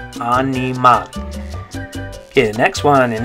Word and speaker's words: animal: Notice that this one's spelled exactly the same in Spanish, but the pronunciation is different. So in English we say animal. In Spanish, you're going to say animal.